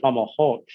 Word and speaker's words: Fomalhaut: Because I just had a conversation with Kaylin Castell actually before this call, and she calls it Fomalhaut. And so that's just another way of pronouncing it.